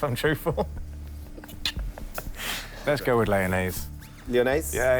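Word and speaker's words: Lyonnaise: So, if I'm truthful, let's go with Leonnaise. Leon. Yeah, it rhymes with mayonnaise.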